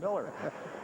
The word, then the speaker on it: Mueller: It's spelled like it would be Bill Mueller, M-U-E-L-L-E-R. In fact, Jeremy Giambi said, you mean Bill Mueller? And I said, no, I think they pronounce it Miller.